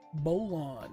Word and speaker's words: Bolon: um propulsion quantum drives bolon rhymes with cologne huh the voyage negative